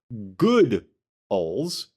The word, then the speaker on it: Goodles: macaroni and cheese brand is officially pronounced good oles g o o d good goodles like that goodles. But that but then in parentheses it says rhyming with poodles.